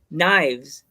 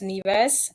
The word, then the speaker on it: Nives: thought first saw it I thought it was knives so what is the term the meaning of your your wrestling name so it's actually pronounced neas and it comes from Latin and it means